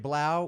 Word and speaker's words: 3LAU: so much justin aka dj blau with a three if you're watching it's spelled three l a u blow is his last